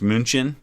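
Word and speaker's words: München: different names germany uh we call one of their major cities munich but in german it's munchin and so there's almost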